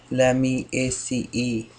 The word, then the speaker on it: Lamiaceae: Lamiaceae. So that's how we pronounce the family name.